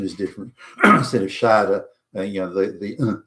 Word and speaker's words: Schade: But the pronunciation is different. Instead of Schade, the sound at the end of the E, it's now shade.